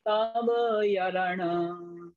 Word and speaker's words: तव यरण: तब को अलग पढ़े, यरण को अलग पढ़े, तभी उच्चारण सही बैठेगा। सुदृढ़ाभ्यास जोड़ कुणई सम्मं न होई तव यरण कुबंतो मूढ़मयी संसार सुहाणुरतो सो।